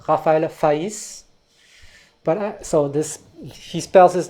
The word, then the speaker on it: Faÿs: In France, the name Reinhardt sometimes is pronounced Renard. So there's actually a musician, a Manouche musician called Raphaël Faïs.